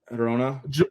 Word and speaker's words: Girona: Girona.